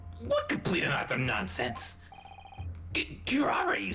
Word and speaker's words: curare: It's pronounced curare. Curare. Ah. It's not Japanese.